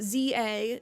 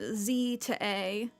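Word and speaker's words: Z-A: Especially because apparently you pronounce it ZA, not Z to A.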